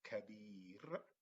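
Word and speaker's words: كبير: So the ba has the kasra in order to give you the double E sound.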